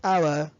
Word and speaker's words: hour: لأنه مثلا كلمة hour hour فبقول an hour ما بقولش a hour، لا بقول an hour.